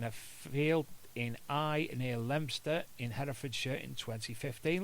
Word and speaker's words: Leominster: field in Eye near Leominster in Herefordshire in 2015. Look at me being able to pronounce Leominster right instead of people saying Leominster.